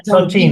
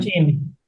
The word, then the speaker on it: Chongqing: Estás en Sí, Shanghái y sí, en y en Chongqing. Chongqing. No sé si lo Sí, y pronuncio en bien. Chongqing.